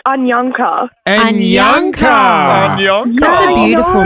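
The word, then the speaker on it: Anyankha: spell us your name yes so my name is spelled a n y a n k h a and Ana almost it's ananka ananka that's a beautiful name though where's that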